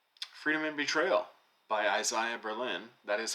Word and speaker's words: Isaiah Berlin: not so this says freedom and betrayal by Isaiah Berlin that is how you pronounce his name by the way and then